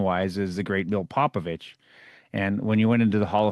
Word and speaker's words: Popovich: Yeah, If I know I'm going to be interacting a lot, then it's Popovich.